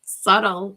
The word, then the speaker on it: subtle: Sub sub subtle subtle subtle subtle with a silent b.